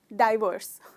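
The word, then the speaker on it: divorce: इसमें दोस्तों मुझे आपको बताते हुए बहुत खुशी हो रही है कि इसका भी प्रोनाउंसिएशन वो डायरेक्ट का जो डाई है, बस इसमें भी वो ही है, डाइवर्स।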